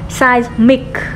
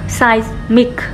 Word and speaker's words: seismic: Seismic, seismic, chữ chữ size, chứ phải là chữ sơ đâu nha, phát âm của nó là seismic, phát âm cuối của nó là k, và phát âm giữa của nó là z, seismic.